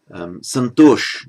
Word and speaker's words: Santosh: Also a name used in modern India, Santosh, they pronounce it in modern Hindi, Santosh, just as a personal name meaning contentment.